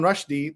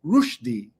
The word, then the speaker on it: Rushdie: Did you know that you've also been saying another name wrong? Instead of Salman Rushdie, the way we all say it, it's Rushdie. Rushdie. Rushdie instead of Rushdie. But if you go around saying Salman Rushdie, people think you're crazy.